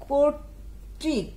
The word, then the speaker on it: কর্তৃক: কর্তৃক কয়ে পরে তয়ের উপরে একটা রেপও আছে ঋকারও আছে, কর্তৃক শব্দটার উচ্চারণ আমরা ঠিক এভাবে লিখব কোর তয় রয়ে হসন্ত দিয়ে তয় ঋকার ক কর্তৃক।